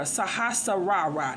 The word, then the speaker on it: Sahasrara: The crown chakra, Sahasrara. That's how you pronounce that, okay?